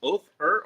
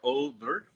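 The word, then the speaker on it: Óðr: So, the Oder, pronounced Othur or Oder, is also, when you see this weird little symbol right there, and usually has like a T across it, it's like a D apostrophe TH.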